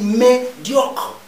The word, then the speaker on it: médiocre: premier mot médiocre médiocre vous voyez que je dis médiocre j'aval le eu ça c'est à cause